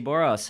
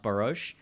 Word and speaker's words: Boros: guest tonight is Jessie Boras how's it goin Jessie pretty good how are you I'm great I just found out that your last name is actually pronounced barouche yeah I guess but